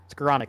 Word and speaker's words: Skowronek: Ben Skorank. Skowronek? I know how to say it. Skoranek.